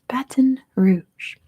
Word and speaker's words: Baton Rouge: It is Baton Rouge. That's how you say it in English. Probably not how they say it there.